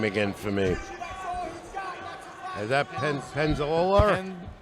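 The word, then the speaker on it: Peñaloza: Solis and pronounce his last name again for me. Is that Penaloza? Penaloza.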